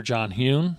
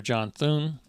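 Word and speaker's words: John Thune: Mitch McConnell the um get Senator John hun th sorry sorry Mr sorry Senator definitely got your name wrong so Senator John Thun Speaker of the House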